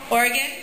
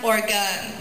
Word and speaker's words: Oregon: qa lip is aqua oregon yakima and willamette warning if you go to new york it's often pronounced organ yeah consider swimming an